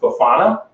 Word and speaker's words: bifana: uh Portuguese pork cutlets which is uh pronounced bufana and they're very thin